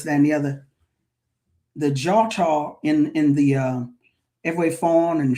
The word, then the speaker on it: Djôtô: So DI, DJ, or DW has that J sound. So the Djôtô, DJOTO.